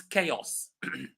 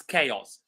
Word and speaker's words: chaos: the first word that we have today is chaos sorry the first word that we have today is chaos So chaos is when there is a lot